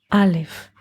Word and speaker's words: Aleph: 1,000 in Hebrew is Elef or Aleph. 1,000 in Hebrew is Elef, but the same letters which are expressing the number Elef in a different pronunciation are the word Aleph.